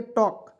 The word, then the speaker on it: talk: चलिए यहाँ देखिए TALK, टॉल्क नहीं पढ़ेंगे, टॉक, TA से होता है टॉ, के से क लिखेंगे, और इस तरह से कर देंगे, टॉक।